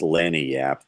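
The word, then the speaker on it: lagniappe: It's pronounced Lanyap. They named it the Lanyap. Creole for bonus, like the 13th.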